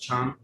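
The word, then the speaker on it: 蝉: So cicada, as Zongjun said, is pronounced Chan, and she writes, "The cicada is a symbol of cyclical resurrection.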